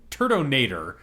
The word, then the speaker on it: Turtonator: oh right 70 76 is uh how do I say this turdonator uh is how you say it oh yeah turdinator the